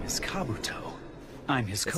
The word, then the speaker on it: Kabuto: God my name is Kabuto I'm his Co that's how you say his name bro I've been calling him Kabutops for years you know what I